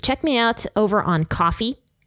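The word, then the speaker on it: Ko-fi: me out over on coffee it looks like Kofi but it's pronounced coffee it's adorable like what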